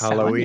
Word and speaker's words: Samhain: pronounced Samhain, yeah, for Halloween.